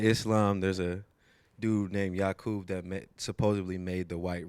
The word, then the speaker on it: Yakub: Okay, so today you are going to perform a song for us called Yakub.